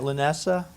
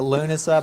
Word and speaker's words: Lughnasa: that way magically delicious dancing at lanessa did I say that right no I've said it wrong every time dancing at Luna Luna okay dancing at lunaa by Brian FR received